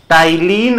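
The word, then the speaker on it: ptyalin: an enzyme an enzyme टाइलीन और P silent है टाइलीन और सेलवरी अमाइलेज़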